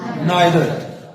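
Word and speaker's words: neither: इनको ईदर और नीदर भी पढ़ते हैं अमेरिका वाले, बरतानिया वाले पढ़ते हैं आइदर और नाइदर।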